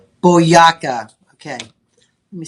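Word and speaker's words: Boyacá: have your BOA Boa, how do you say that? Boyaka. Boaka.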